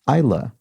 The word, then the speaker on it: Isla: delev who explains that the name i incorrectly pronounced as isla fisher isla should be pronounced isla so um sort of like the scottish region